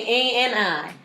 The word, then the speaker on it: Ani: And then A-N-I.